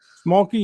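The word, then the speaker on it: Schmalke: Smolky, yeah, Smolky, the writer of Murder Hobo.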